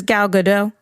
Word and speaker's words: Gal Gadot: ways not by her what does she say she says gal gadot yeah I like I'm one of his ever heard her say her name it was like God dot ok zendaya Rihanna that's